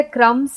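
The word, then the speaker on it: crumbs: भी एक साइलेंट है फिर बी साइलेंट है क्रम तो क्रम स हम लिखते हैं लेकिन बी को हम उच्चारण में नहीं लेते हम सिर्फ बोलते हैं क्रम सी आर यू एम एस ये हम बोलते हैं क्रम लेकिन लिखते हैं बी भी बीच में यानी हम क्रम स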